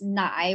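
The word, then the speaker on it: 奶: traditional milk character so it's still pronounced as nai which is how you pronounce milk in chinese but they added a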